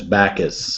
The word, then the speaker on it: Bacchus: name Tim bockius patches um his name is Bacchus they used to celebrate orgy kind of things